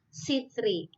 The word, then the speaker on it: citri: Edi belakangnya ketika dia diikuti huruf e di depannya maka dia dibacanya sebagai Sera ya cerah jadi Sera citri jadi sitri in nah ini di bawah